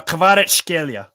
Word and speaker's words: Kvaratskhelia: I think that's how you say his name. It's Kvaratskhelia. Yeah, the thing about him, right? It took me a bit to look up his name and look at Georgian saying it, and I had to practice it.